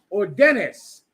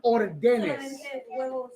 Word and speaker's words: órdenes: Ordenes.